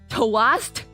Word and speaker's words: toast: Before you'd say the last T very quietly.